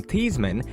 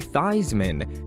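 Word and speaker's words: Theismann: mvp joe thiesman to change the pronunciation of his name from teasman to theismen so it would rhyme with heisman the new mr thiesman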